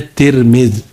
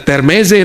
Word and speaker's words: Termez: Kata orang Uzbek, bacanya Tirmiz. Termes itu tulisan Inggris, E-nya dibaca I. Ya, Termez. Bacanya kalau bahasa Inggris, Tirmiz. Jangan dibaca Termeze nanti ya.